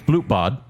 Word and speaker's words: Blutbad: It's Blutbad, Dang it.